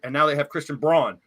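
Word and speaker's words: Braun: now they have Christian brown brown which is pronounced Brown the same way and he's he's stepping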